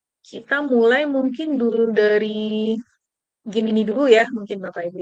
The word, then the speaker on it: Gemini: Kalau bacanya apa sih Pak Buku? Gemini ya, Gemini.